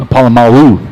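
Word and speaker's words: Polamalu: There's Troy Palamatu, and I think that's how you say his name. Palamalu.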